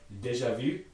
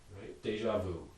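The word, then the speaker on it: déjà vu: another one here uh deja vu which means already seen in french and that second word v is a past participle of the verb to see and it has a high front rounded vowel e in it not pronounceable in english and so that's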